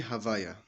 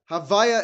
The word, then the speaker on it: Havaya: Havaya is Hashem's name. The Yud K Vav K. We pronounce it Havaya is like the way we say it when we don't want to pronounce it the proper way.